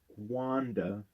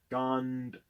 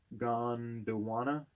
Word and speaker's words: Gondwana: Zimbabwe and Gwanda. It's not actually, it's Gondwana. Gondwana.